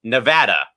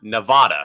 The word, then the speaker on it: Nevada: Even Nevada, Reno, her alma mater, puts in the pronunciation guide for football and basketball, it is pronounced Nevada, not Nevada.